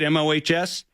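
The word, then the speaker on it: Mohs: so um and then what's Mo's surgery am I pronouncing that right mohos you got it so it was named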